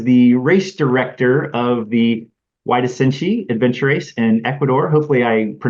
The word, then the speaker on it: Huairasinchi: He is the race director of the Huairasinchi adventure race in Ecuador. Hopefully I pronounced it correctly, or at least close.